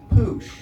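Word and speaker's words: puxe: And the X in Portuguese is a sh sound. So it's pronounced poosh, right?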